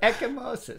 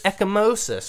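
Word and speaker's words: ecchymosis: again ryan oh you said it's so good echimosis echomosis okay so i was wrong but that would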